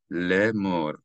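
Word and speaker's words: לֵאמֹר: So it's read le'emor, as if the Aleph is not there.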